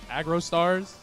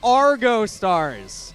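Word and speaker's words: Argostars: how to pronounce it I thought it was aggro Stars too um uh idle Pop I don't know it is Argo Stars Argo you had the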